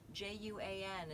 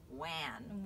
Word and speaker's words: Juan: J-U-A-N is pronounced Juan, not Wan. Wan. Right? It's not Don Wan.